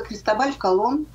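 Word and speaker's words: Cristóbal Colón: уже потом ему приписали но произносится криста вольф колонн и всегда он оставался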